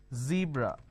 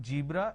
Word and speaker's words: zebra: zoo disowned breeze now this is a z sound for example zebra for example zone for example zeal okay now what people make a mistake is they replace the z with a ju so what they do is they pronounce this as jibra john so please don't make a mistake the moment you replace the zer with a ja it's a mispronunciation it's not jibra it's zebra it's not john it is